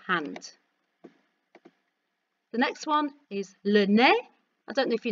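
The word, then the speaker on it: le nez: the next one is lennae i don't know if you notice that i don't pronounce the zed so repeat after me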